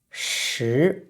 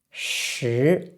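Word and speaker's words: 石: So based on this meaning, and this character is rock, and it's pronounced shi, shi.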